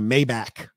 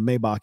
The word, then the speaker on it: Maybach: example how many rappers you hear talk about a mayback the hell is a mayback it's not even how you pronounce the name of the car you own the car can't even pronounce the goddamn name of it it's low class ladies